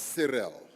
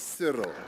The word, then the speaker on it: Cyril: to two different factions he belongs to one faction that pronounces my name as cyril i belong to the affection that pronounces my name as cyril i've been asked to